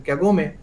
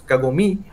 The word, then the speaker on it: kagome: so say for example in kagome i'm pronouncing it wrong it's kagome the the the ground